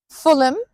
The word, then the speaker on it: Fulham: Then we have the ones written like ham but sounds like um for example Beckenham Clappam Fulham Tottenham Cot Road.